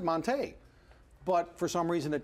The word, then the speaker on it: Montee: talking about it we said no it's actually Monta but until yesterday morning when it was tweeted by the UW Sports Information Department nobody it never took took shape mm-hmm so Monty will now be Monta Oh with the excerpt